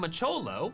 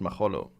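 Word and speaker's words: Machollo: was a Machop name macholo which is its German name that is in fact its German name although it would be pronounced maholo um how is he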